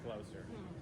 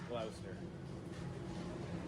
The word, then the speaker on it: Gloucester: guys to know that I know how to pronounce Gloucester. I think a lot of people would guess Gloucester. I'm 90% sure it's Gloucester.